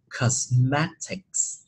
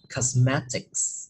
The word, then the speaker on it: cosmetics: Và cái này mình sẽ đọc là cosmetics, cosmetics, được không ạ? Và có S ở phía sau luôn nha, cosmetics.